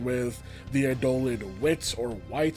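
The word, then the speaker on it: Whyt: the Adolin Wits or White, that's just pronounced, it's spelled W-H-Y-T, and the mini games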